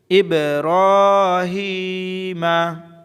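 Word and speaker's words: إِبْرَاهِيمَ: ইব্রাহিমা, হামজা বাজের ইব, হামজা বাজের ইব, রা খারা জবর রা, এক আলিফ লম্বা হবে। ইব্র, হায়াজের হি, মিম জবর মা।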